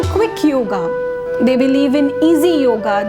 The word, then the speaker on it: yoga: as we spell it, we don't pronounce it like yoga. The real pronunciation is yoga, because yoga is a Sanskrit word, and A is pronounced as A.